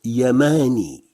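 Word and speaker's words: يماني: y est devant j'obtiens yamani yamani ça veut dire yéménite yamani qu'on peut prononcer aussi un mini mais c'est une forme traditionnelle yamani s'écrit ainsi et se prononce yamani à la place de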